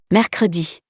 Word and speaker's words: mercredi: In the example below, if we don't pronounce the second E, we would have three consonants to pronounce in a row. It's impossible. For that reason we pronounce it. Mercredi.